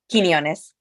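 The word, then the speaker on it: Quiñones: Quinones.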